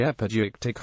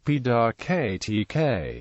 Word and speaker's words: epideictic: The epideictic oratory, also called ceremonial oratory, or praise and